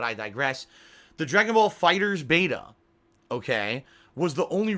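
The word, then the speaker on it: FighterZ: beta um and yes you pronounce it fighters not fighters II which makes no sense because they write it they write fighter and then capital Z which means technically when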